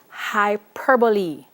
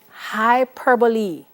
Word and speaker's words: hyperbole: now of course the use of and please pronounce this word correctly hyperbole say it with me hyperbole all right which is also known as exaggeration